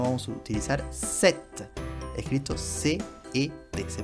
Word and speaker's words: cet: escrito CE, sino vamos a utilizar cet, escrito C-E-T. Se pronuncia cet.